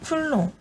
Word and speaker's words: 쿨롱: C. 뭐라고 읽죠? 쿨롱. 그쵸. 쿨롱이라고 읽죠. 이 쿨롱이 왜 중요하냐?